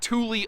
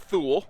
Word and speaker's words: Thule: of uh pronunciations uh most of us look at that here in the states and call it thule but that's thule thule like the uh think like the swedish chef you know what i